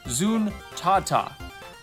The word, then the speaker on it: Zuntata: It turns out Taito's in-house band is not Zuntata, but Zuntata. And for whatever reason, I have failed to pronounce it properly for like my whole life. So I apologize, and here's the correct word, Zuntata.